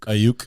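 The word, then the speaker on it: Aiyuk: Ayuk.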